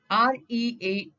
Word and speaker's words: read: R-E-A-D. Read is also called as read when it comes to past tense.